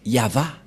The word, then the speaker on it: Yahvah: c'est V et et la prononciation de ceci c'est yava voilà la prononciation de